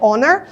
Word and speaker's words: honor: якраз таки шановний друг ви пам'ятаєте слово Honor шана повага Да і ми не вимовляємо букву H яка є першою так от це прикметник шановний